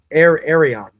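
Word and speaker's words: Aerion: Arion. The way he's interacting. Yeah. Yeah. When Arion is like, oh, we'll do a trial by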